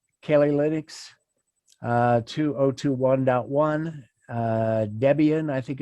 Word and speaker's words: Debian: ubuntu rather 20.4 cali linux uh 2021.1 uh debian i think it's pronounced 10.7 and fedora workstation 33-1.2 anyone with